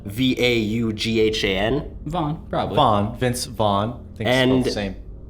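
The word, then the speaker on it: Vaughan: the sky by greg a i wanna say von but it's spelled v-a-u-g-h-a-n von vaughn vince vaughn and same we're kind of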